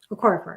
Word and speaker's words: Okorafor: Okorafor.